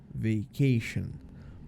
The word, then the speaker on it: vacation: I'm on vacation tá então percebe que esse t i o n tem esse sonzinho de sh nosso né chão vacation tá bom e é